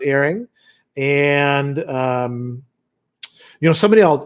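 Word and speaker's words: Héring: john herring for example spelled like herring right but pronounced earring and you know somebody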